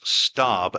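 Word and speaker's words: Staab: They checked with base umpire, whose name I have as Nicholas Staub, S-T-A-A-B. And that's how I pronounced Tom Staub's name.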